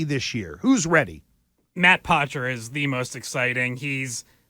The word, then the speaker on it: Poitras: Don't look at the way his name is spelt. It's Poitras.